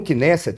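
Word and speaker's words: Knesset: de Israel você tem no kinet eu acho que essa é a pronúncia correta que é o Parlamento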